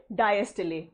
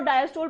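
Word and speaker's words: diastole: कौन से 2 term, सिस्टले एंड डायस्टले। देखो, सिस्टोल और डायस्टोल प्रोनाउंस करते हो, वो गलत प्रोनाउंसिएशन है, उसकी सही प्रोनाउंसिएशन इज सिस्टले एंड डायस्टले।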